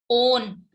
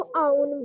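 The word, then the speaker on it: own: This is ओन. ओन, W silent, ओन. Okay. और ओन means अपना, खुद का, स्वयं का. मैम हमारे स्कूल में ओन को आउन बोलते हैं।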